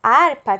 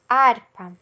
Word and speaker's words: harpa: de exemplos da harpa a palavra harpa tem uma gata aqui no começo certo mas o h n não tem som ele tem o som da letra que ele acompanha que no caso a letra a então o h início